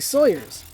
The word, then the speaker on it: Sawyer: the sides while avoiding Sawyers. You're supposed to pronounce them sireers, which is weird cuz they're saws, but yeah, but it's it's pronounced Sawyer cuz you know, Tom Sawyer, but uh it is what it is.